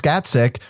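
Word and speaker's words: Gacek: His name, pronounced Gatsik, means long-eared bat in Polish.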